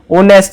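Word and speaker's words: honest: Choose the correct article, ऑनेस्ट, ये H silent होता है, यहाँ पे ओ की साउंड आती है, ओ होता है वोवल, तो वोवल के साथ क्या लगेगा, एन लगेगा।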